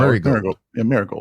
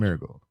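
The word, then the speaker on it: Marigold: it Mari gold marold just like the flower Mar gold Mar gold okay so I mean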